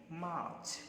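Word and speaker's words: March: अगला देखिए, मार्च, इसको क्या पढ़ा जाएगा, आर साइलेंट होता है, क्योंकि आर के बाद जब कोई कॉन्सोनेंट हो या फिर कोई वर्ड ना हो, कोई साउंड ना हो, तो हम उसको साइलेंट रखते हैं। तो यहाँ पर आर के बाद च एक कंसोनेंट है, इसीलिए यहाँ आर साइलेंट रहने वाला है, और इसको हम क्या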